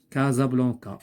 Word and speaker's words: Casablanca: Casablanca, il se prononce Z.